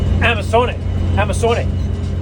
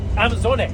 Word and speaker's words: Amazone: Amazone. See, we pronounce it Amazon, but that German guy, how did he pronounce it? Amazone. I don't know. But we're not pronouncing it right, I know that.